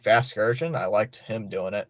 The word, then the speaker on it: Vasgersian: Like Matt Vashker, the old guy who used to do the MLB The Show games, like MLB Vasgersian. Yeah, that's how you say his name.